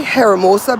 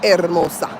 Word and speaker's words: Hermosa: They say Heramosa Beach over here, but we all know in Spanish the H is not pronounced. So, I'm going to say Hermosa in Hermosa Beach.